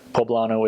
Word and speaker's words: poblano: have this stuff called mole poblano which is poblano is how you say it's from pbla and